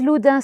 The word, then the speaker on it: Loudun: 12 or 13 inheritance at least where is Luda situated you can it's spelled with a u Luda like and it's